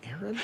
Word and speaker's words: Aaron: Because it's pronounced Aaron.